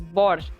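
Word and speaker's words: borscht: No damn T.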